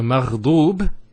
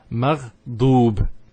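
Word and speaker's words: مغضوب: So maghdoob here has a dhamma on the dad, followed by the waw. So it's an elongation sound. So it's a u sound. So it's maghdoob.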